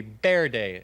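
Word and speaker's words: Verde: this comes to us from Maggie pile Camp ver day Arizona although I believe the correct pronunciation would be be day as if it were a b wouldn't it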